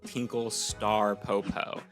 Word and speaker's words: Tinkle Star Popo: And to clarify, it is called Tinkle Star Popo. You do pronounce the star.